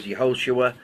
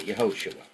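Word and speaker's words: יהושע: transliteration but his name in the Hebrew was yahoshua the same as Joshua yahoshua so question so far all right Joshua chapter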